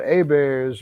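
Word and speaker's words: Hebert's: of a place uh it's called a bears but it's spelled Herbert's they got one in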